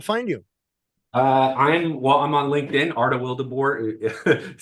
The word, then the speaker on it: Arta Wildeboer: Arta Wildeboer. Sounds just like it's spelled, or spelled just like it sounds, I should say.